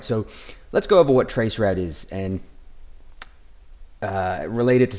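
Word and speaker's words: traceroute: to that question is a trace RT or trace route uh as as you would pronounce it generally so look uh as stated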